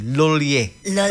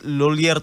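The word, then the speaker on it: Lhuillier: pero sabi nila yang pagpronounce daw sa loler ay lue L Oo Yan ang sabi nila Pero tayo mga Pinoy eh loler tayo eh Pinoy tayo L ay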